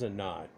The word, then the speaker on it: Anat: off like I do here's a knot and you can pronounce it and not an annette and not to classically it's enough where the tea has the th sound with it we've talked about a bunch of times in hebrew it's even enough Phoenician